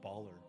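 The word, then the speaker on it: Ballyrr: this name is just baller but spelled for drow b-a-l-l-y-r-r sounds about right sounds like a winner ah just baller i am of the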